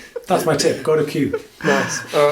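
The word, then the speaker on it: Kew: There's a great little park in town called Q. Yeah, K-E-W. Is that how you pronounce it? K-E-W. Q. Yeah, Q.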